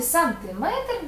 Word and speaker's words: сантиметр: це не міра довжини в Славі сантиметр наголос падає на третій склад запам'ятай проблемні числівники у